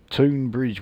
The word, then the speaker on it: Tonbridge: People pronounce Tbridge as Tonbridge. What do they call this place? Toonbridge. Tonbridge. Wells.